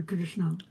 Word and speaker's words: Krishna: Is that how you pronounce it? Yeah, Krishna. Yeah. I always want to call it Hare Krishna.